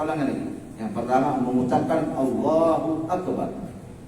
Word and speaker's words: Allahu Akbar: lagi yang pertama mengucapkan Allahu Akbar ucapan Allahu akbar pun harus benar Allahu Akbar bukan Allahu akbar ada Allahu Akbar salah Allahu akbar ak ak Allahu Akbar Jadi ucapan Allahu akbar pun harus jelas harus